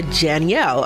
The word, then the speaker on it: Janielle: So it's pronounced, it's basically Janielle, like Danielle, but with a J. Oh, I love it. Okay, let me make sure. Janielle.